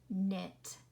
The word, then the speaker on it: knit: Yes, we do not hear the K. We only hear the N. Not, knit, knee.